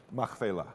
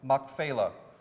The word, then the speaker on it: Machpelah: Machpelah. Machpelah.